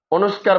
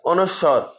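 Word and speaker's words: অনুস্বার: উচ্চারণ হচ্ছে যে খন্ডত অনুস্কার বলে সঠিক উচ্চারণ হচ্ছে যে অনুস্বর অনেকে উচ্চারণ করে চন্দ্রবিন্দু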